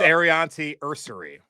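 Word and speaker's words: Aireontae Ersery: It's Arianti Ursary.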